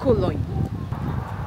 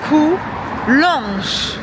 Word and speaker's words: Coulanges: au parc Bois de Cologne. Si j'ai mal prononcé, je vais devoir mettre l'orthographe correcte juste du côté droit. Ah, je prononçais mal effectivement. C'est le parc du Bois de Coulanges.